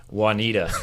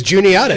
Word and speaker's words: Juniata: And everybody who sees Juniata spelled out for the first time pronounces it how? Juanita, which is exactly wrong.